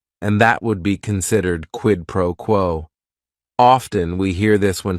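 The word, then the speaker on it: quid pro quo: right here quidd proquo it is three words each word is only one syllable and if you're saying it together the stress is kind of on that first word and that last word quidd proquo what this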